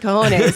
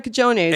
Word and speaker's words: cojones: or whatever, you pointed out, how does he know it's a Hispanic silent J? Right. That it's like he wouldn't know that if he doesn't know what the word is. He wouldn't know that because he said it's spelled with a J.